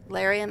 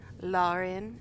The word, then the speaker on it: Larian: But then, after that, Larian, the studio that makes this game, Larian, as us Americans say, Larian, as Neil says. So we'll just go with Larian.